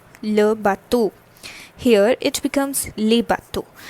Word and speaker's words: bateaux: So the pronunciation for bateau remains the same. The difference lies is this le gets converted to le, that is, the change in les articles is observed, and an extra x is added over here. This au becomes aux over here, and the pronunciation remains the same for the two.